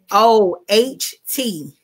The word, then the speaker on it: SAMOHT: Yeah, SAMOHT. The T is silent. Samo.